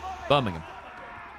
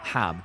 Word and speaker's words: Birmingham: How do you say Birmingham? Birmingham. Not Ham. There's nothing ham about it.